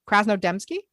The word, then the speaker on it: Krasnodemski: Krasnodemski.